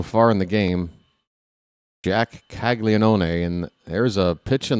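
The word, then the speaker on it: Caglianone: It's not Kaggle Leone.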